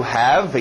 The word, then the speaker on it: have: To have, engole o V.